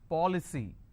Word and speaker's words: policy: C Y for example policy how many syllables three for Lee c now here the rule says I need to stress on the third from right which means I will stress on Pop I just bought an